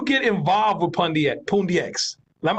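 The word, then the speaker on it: Pundi X: involved with Pandya at Pune X LEM I always say it wrong poon DX how did you get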